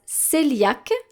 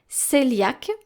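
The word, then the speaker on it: cœliaque: the French language here there are always exceptions in words such as selak you can see the spelling in the article that I am linking in the description selak uh so basically it's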